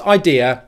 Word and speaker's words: idea: sounds first of all there are two diphthongs in the word idea the i diphthong which is the same pronunciation as this thing here my eye and the ear diphthong which is the same pronunciation of this thing here my ear let me give you